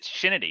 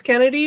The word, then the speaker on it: Chennedy: I keep wanting to say, is it Chennedy? It's not Kennedy, right? It's Kennedy, but it's spelled.